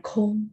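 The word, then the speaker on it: 空: Nah, itu bacanya kong nada satu.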